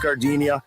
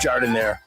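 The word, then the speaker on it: giardiniera: And guys, when you're at the counter, don't call it gardenia. It's pronounced Jardiniere.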